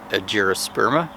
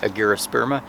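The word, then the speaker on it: argyrosperma: mixta, which is also cucurbita agyrosperma, if I'm saying that correctly, agyrosperma. Usually it's a hard G for traditional Latin, but we don't always go by that in the scientific community.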